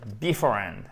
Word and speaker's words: beforehand: Si vous dites par exemple beforehand, ça ne fonctionne pas parce que c'est beforehand, ok?